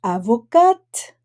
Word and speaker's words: avocat: Gisèle Halimi est avocate, mais Paul Lombardi est avocat. Notice that in the feminine, we do not pronounce the last letter.